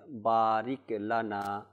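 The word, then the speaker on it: بارك لنا: অনেকে এভাবে পড়ে বারিকাল বারিক লানা বারিক লানা বারিককে অর্থাৎ রিককে একটু রিপিট চলে আসে হ্যাঁ রিপিট চলে আসে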